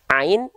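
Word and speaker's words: عين: Nah, huruf ainnya di sini, ya, perhatikan. Dia dilafalkan bersamaan dengan ha kecil. Ya, a, ha. Tsumma liwasṭihi fa'ainun ha'u. Ain dan ha kecil itu dilafalkan sama dari bagian tengah tenggorokan kita, ya. Nah, tepatnya pada bagian apa? Tepatnya pada bagian katup epiglotis, ya.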